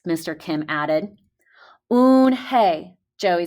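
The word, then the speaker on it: Unhei: joey she nodded slowly yes it's pronounced oon hey and it means grace mr kim added oon hey joey said slowly and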